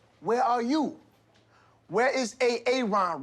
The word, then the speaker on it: Aaron: you say it the first time i said a-a-ron because it's pronounced aaron you done messed up hey ron